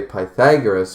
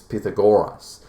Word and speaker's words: Pythagoras: What about I'm going to say Pythagoras, but apparently it's Pythagoras. And that's because ancient Greek spelling and pronunciation.